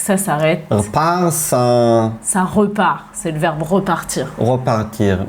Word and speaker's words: repart: On ne prononce pas le E, on l'avale.